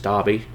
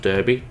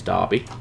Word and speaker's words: Derby: It's Derby. It is not pronounced Derby. Trust me, it is Derby.